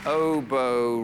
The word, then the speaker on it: oboe: i'm locking it in oboe rhymes with oh no oh it's an oboe oh